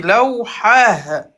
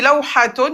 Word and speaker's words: لوحة: On dit lawhatun, mais quand on s'arrête, lawha. On va pas prononcer le T.